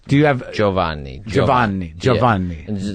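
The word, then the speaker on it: Giovanni Ribisi: How do you pronounce it? Do you pronounce it with an Italian flair? I mean, I guess so. It's in between an English and an Italian sort of, dialect, I guess.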